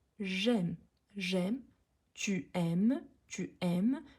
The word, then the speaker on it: j'aime: elle fait l'illusion mais elle dit je aime non quand il y a l'illusion on prononce comme un seul mot j'aime j'aime tu aimes tu